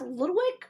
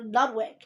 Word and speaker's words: Ludwick: now guys for record they've asked Alexander if it's past Ludwig or Ludwig he said he's heard it pronounced both ways Alexander a lot of a good one five seven which is May 7th 1992.